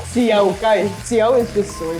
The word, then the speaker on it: See Yao Gai: Could you tell me a little bit about, how do I pronounce it? See Yao Gai? See Yao Gai.